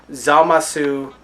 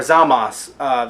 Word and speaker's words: Zamasu: I knew that I was expecting Zamasu or Zamas. They took away the U because really it's just a pronunciation thing in Japanese.